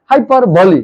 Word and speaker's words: hyperbole: है जिसका नाम है हाइपर बली इसको हाइपर बली पढ़ते हैं जरा इसको स्पेलिंग दे